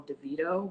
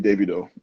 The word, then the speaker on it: Davido: Like, I'm assuming he's talking about I think we always say call him DeVito, but I guess that's definitely the wrong No, thing. it's definitely Davido. Davido. Great. Definitely the Yeah, not mispronunciation. Davido, not Davido, Davido.